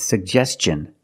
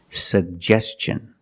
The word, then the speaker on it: suggestion: or suggestion that's right it's suggestion because the tin is after an S make the hard CH sound like chicken suggestion let's look at the